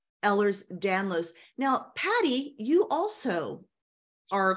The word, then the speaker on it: Ehlers-Danlos: follow for instance loose connective tissue disorders like ehlers danlos now Patty you also are quite familiar with Ellis stanlers Dan I always say it wrong ehlers danlos yeah mine is the hypermobility so I've got